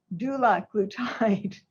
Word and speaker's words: dulaglutide: Drugs are pronounced multiple ways, but I think it's easiest to do the start and then the glutide. So for example, I put down here semaglutide. You start with a semaglutide, liraglutide, dulaglutide. So that's just your hint for how to pronounce them.